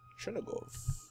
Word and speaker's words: Chernigov: Chernigov. Wow.